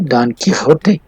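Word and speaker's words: Don Quijote: سروانٹیز ڈان کیحوتے, اس کو عجیب تلفظ ہے اس کا, یہ چونکہ اسپینش ہے تو اس کو عجیب پڑھتے ہیں, ڈان کیحوتے پڑھتے ہیں اس کو.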